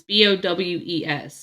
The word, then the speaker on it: Bowes: So this is, I believe it's pronounced Bose. It's Bowes. It's Bose Signature Candles.